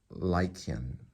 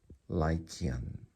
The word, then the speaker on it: Lycaon: Lycaon. So the A is actually in it. Lie is in it, so you can think of, you're talking to me about a werewolf, that's a lie.